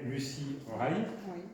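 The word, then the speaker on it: Lucie Rie: Alors, d'autres qui sont moins connus parce qu'ils sont très anglo-saxons, c'est Dame Lucy Ray, je prononce bien?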